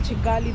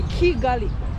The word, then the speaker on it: Kigali: complain about me calling chigali but I'm supposed to pronounce it in the same way Kigali but what you don't know that in Uganda we pronounce k as Chi so we have different pronunciation but as long as